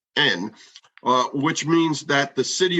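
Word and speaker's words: Aisne: like me who don't speak French well it's pronounced n uh which means that the city of REM RH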